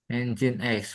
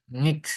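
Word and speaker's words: nginx: apa ini engine X Pak engine X bukan ngx ya bacanya n ini jin ini x engine X Ini fungsinya untuk apa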